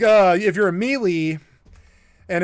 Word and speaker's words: melee: Do you mean melee or do you mean Malle?" But you And that's what you can definitely spot an idiot if they say Malle.